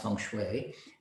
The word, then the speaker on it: Feng Shui: The Feng Shui and Health, Feng Shui, Feng Shui, Feng Shui, it's pronounced Feng Shui, and Health, The Anatomy of a Home.